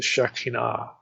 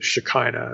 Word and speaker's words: Shekinah: The light symbolizes the Shekinah, or the Shekinah as it's often pronounced today.